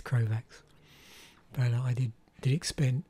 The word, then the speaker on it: Krovax: um because this of course is crowfax krovax yeah i'm having trouble with pronunciation this morning yeah this is krovax but i did did